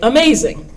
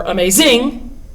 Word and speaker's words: amazing: When you look at a word like amazing, for some reason, growing up, we learn that you put the accent on the maze part and say amazing. You don't say amazing or amazing. It's amazing, amazing.